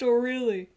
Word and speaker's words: Orly: It's Orly! It's O'Reilly! That's the whole joke, is that her name is actually pronounced O'Reilly.